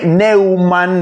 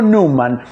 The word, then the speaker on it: Numan: Eh, todos lo conocemos así como Gary Newman, pero no Neuman, New hombre, sino Newman.